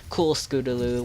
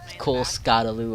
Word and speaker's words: Cool Scootaloo: she's described to me cool Scootaloo what's up yes that's how you say my name is not cool Scott Alou or cold boot scootin boo Boop school is cool Scootaloo